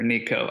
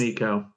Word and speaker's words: Nicot: He was able to use a NICOT or NECO. I don't know how to pronounce it. So yeah, what it is NECO. NECO. Silent T. N-I-C-O-T for those that are looking it up.